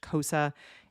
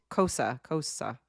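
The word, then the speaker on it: Xhosa: X X H O SA. I think it's pronounced Kosa and the character's name is Key XI.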